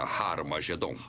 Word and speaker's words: Har Magedon: E realmente, em algumas das antigas versões do Novo Testamento, escritas em grego, Armagedon tem o som aspirado no início, que significa que era pronunciada com H. Originalmente era Har Magedon, e é muito fácil passar de Har Megido para Har Magedon.